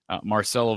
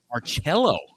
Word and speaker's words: Marcello: Am I saying that right? Is it Marcelo? Marcello. Now, Marcello. Man, I've been saying it wrong this whole time, so thank you for correcting me.